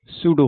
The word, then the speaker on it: pseudo: है भाई सूडो force सूडो force ठीक है सूडो का मतलब होता है नकली अब देखो स्पेलिंग ही नकली है प प से शुरू हो रहा है बोल रहे सूडो ठीक है पी साइलेंट जो भी है नकली